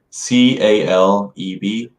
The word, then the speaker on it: Caleb: C-A-L-E-B. Caleb. Caleb. Yeah, Caleb. Yeah, I like to hear from that guy. It seems like he knows a few things or two. Who's Caleb?